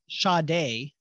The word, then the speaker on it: Sade: I've never said it with the R. Oh, good. Sade. Yeah. That's how I've always said it. Have we relied on the ignorant to determine how we pronounce her name? Maybe. Ah, God. And it's only hit me now. Right. Like, wait a minute. There's no R in her name.